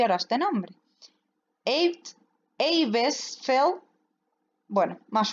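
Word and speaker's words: Eibesfeldt: Eibesfeld, bueno, más o menos, ¿vale? Seguro que no es así la pronunciación original, pero bueno, así está escrito.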